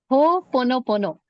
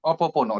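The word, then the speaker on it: Ho'oponopono: Ho pono pono, sir. I used to pronounce it really wrong for a long Okay. time. Oh, Opopono, right?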